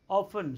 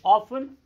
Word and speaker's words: often: normally often when children americans pronounce it often britishers often so both the pronunciation are acceptable often often never really individually